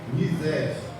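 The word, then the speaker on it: חסד: Ela se escreve Rized, mas está assim, XZ, CHESED, mas ela se pronuncia Rized em hebraico.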